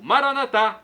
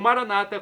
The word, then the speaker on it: Maranatá: E agora eu clamo do aramaico, Maranatá, como dizemos nós católicos, ou Maranata, como dizem nossos irmãos separados, os evangélicos ou protestantes.